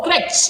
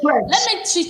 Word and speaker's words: crutch: Oh, crutch. They say crutch. Crutch. Yes, a lot of people say crash.